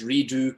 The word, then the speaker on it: Redux: The name of the business is Redo Clothing Company. Redo spelled Redux. Okay. So it's the French pronunciation of redux, and it just means